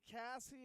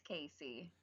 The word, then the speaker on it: Casey: Do you pronounce it Cassie or Casey? It's Casey.